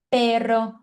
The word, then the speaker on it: perro: Raton, perro, olor. Então, toda vez que você vê essa palavra com R, pega assim a sua energia latina para você colocar na letra R.